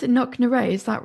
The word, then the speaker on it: Knocknashee: Do you pronounce it Knocknashee? Is that right, Thomas? Knocknashee, yes.